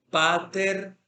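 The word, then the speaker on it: πάτερ: Pater gemón. Se supone que pater es un vocativo, yo lo estoy invocando, o Padre de nosotros. Pater, mire que el acento está sobre la penúltima sílaba.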